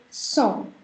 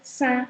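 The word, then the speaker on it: cent: This is called song. Please never pronounce this as saint or anything else. It's song. Why? Because this is the sound of on.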